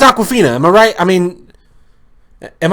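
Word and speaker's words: Awkwafina: name is Aquafina and not spelled like the water spilled aw k waa fi na that's that's Aquafina I'm alright I mean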